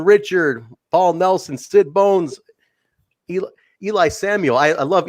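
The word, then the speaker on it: Eli Isom: Whoopsie, Brandon Richard, Paul Nelson, Sid Bones, Eli Samuel. I love Eli Samuel. It took me a while to get how to pronounce his name, but it was like Eli Drake.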